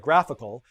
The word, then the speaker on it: GraphQL: length so eric writes graph eql pronounced like graphical is a dev endpoint